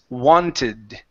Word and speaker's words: wanted: Now, because we have a a a d or a t here at the end. Okay. We are going to pronounce the e, but we need to stop.